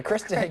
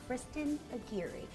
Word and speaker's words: Kirsten: don't know Kirsten Kristen is live in Quincy this morning yeah Kristen what are you up to good morning Chad did you forget how to say my name it's Kristin well I'm here at